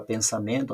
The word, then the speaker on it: pensamento: Eu separei a palavra pensamento, olha, pensamento. A sílaba tônica de pensamento é o men.